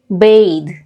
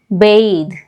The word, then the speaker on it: bathe: Bath bath this one here with e is bathe bathe now what is the difference in these two